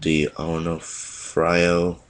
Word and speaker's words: D'Onofrio: This features Lee Ermey, Matthew Modine, Adam Baldwin, Vincent D'Onofrio. That's how you pronounce his name.